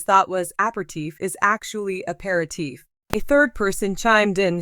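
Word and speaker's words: apéritif: Clue the Jeopardy player M sha said e your tiff with three syllables the correct way to say the answer is a parti with four syllables even so both the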